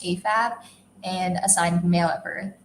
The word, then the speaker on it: AFAB: at birth, for which the acronym is AFAB, pronounced AFAB, and assigned male at birth, for which the acronym is AMAB, pronounced AMAB.